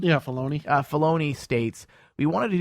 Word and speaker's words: Filoni: Yeah, Filoni.